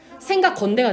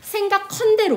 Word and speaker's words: 생각건대: 생각건대가 되는 거예요. 근데 사람들이 발음을 어떻게 많이 하냐면 생각컨대로 많이 하거든요. 그거 잘못된 말이라는 거.